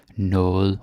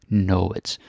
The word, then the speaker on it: noget: And very often it's noget or noget, if you want to be very dictionary about the pronunciation.